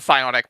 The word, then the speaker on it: psionic: This that's supposed to be pronounced the psionic, but it's the Greek letter psi.